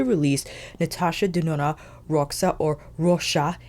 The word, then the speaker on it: Roxa: Natasha denona Roa or Rosa in Portuguese if you wanted to pronounce the X with the sh sound and I wanted to